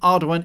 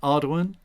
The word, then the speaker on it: Ardoin: Ardoin is my what I call my preferred mispronunciation because it's French and hard to say if you can't roll your R's and stuff.